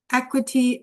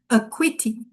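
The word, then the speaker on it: acuity: So let's So uh sorry again wrong pronunciation is aquitti okay aquitti aquiti means sharpness comes from also close to the word acute.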